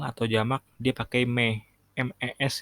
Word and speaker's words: mes: MES itu tulisannya MES bacanya me.